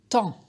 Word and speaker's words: tant: Ce mot, il s'écrit T-A-N-T. Le dernier T, il est muet. Et donc, on lit ce mot temps. Comme par exemple dans la phrase il y a tant d'enfants dans la cour.